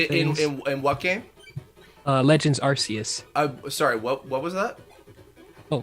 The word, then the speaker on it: Arceus: How do you pronounce the name of the Pokemon of creation? Oh. Arceus.